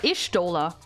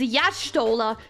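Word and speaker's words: Y'shtola: Stola, which is why I at first actually thought her name is pronounced Ishtola. Like just Ishtola. But no, lore accurate pronunciation is Yashtola because she's like the tribe with the Y where the letters pronounced Ya instead of just E.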